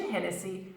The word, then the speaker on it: Hennessy: Irish origins it's named after the arena Richard Hennessy and that's how we got its name now careful pronunciation 10 Nancy and Nancy Hennessy Hennessy Hennessy